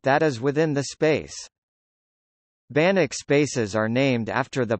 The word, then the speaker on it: Banach: In mathematics, more specifically in functional analysis, a Banach space pronounced Banach is a complete normed vector space.